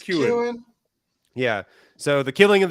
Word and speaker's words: Keoghan: Taking Barry Keoghan or Keegan. How do you pronounce his name? I think it's Keoghan.